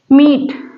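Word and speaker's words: meat: एम ई ए टी यहां पर देखिए ई भी वाउल है ए भी वाउल है ये दोनों आया है एक साथ लेकिन आमतौर पर बताया गया है कि पहला वाल लॉन्ग साउंड देगा और दूसरा वाल चाहे जो रहेगा वो साइलेंट होगा तो आप कैसे बोलते हैं मीट मीट तो यहां पर ई लॉन्ग साउंड दे रहा है पहला वाल दूसरा वल साइलेंट है आगे देखिए सीट सीट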